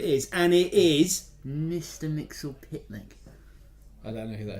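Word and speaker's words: Mxyzptlk: I can never say it right, So I get Raven to say it. What is it? Mr. So- Mixel Pitlick. Mr. Mixel Pitlick.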